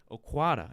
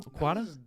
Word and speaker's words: Okwata: Let's give a wet detox welcome to Zay Okwata. Is that how you say the last name? Okwata? That was solid. I didn't fully. The T could have been more of a ta.